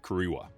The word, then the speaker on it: Kariba: The name of the lake is a westernized mispronunciation of Kariwa.